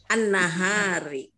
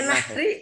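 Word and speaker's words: النهر: Nahar atau apa tadi? An-nahari. Nahri, yang benar nahri. Oh, nahri. Kalau nahar ada alifnya, nahar siang.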